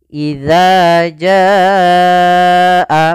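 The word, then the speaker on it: إِذَا جَاءَ: harakat maka idza Jaa idza Jaa panjangkan dulu jnya sepanjang empat harakat baru dibaca Anya kemudian Nasrullah Nas as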